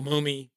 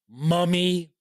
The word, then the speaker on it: Mumy: Bruce Boxleitner and Bill Mumy or Mummy. I don't know. I hear people pronounce his name 2 different ways. Bill Mummy, Billy Mummy, right? And then Moomy.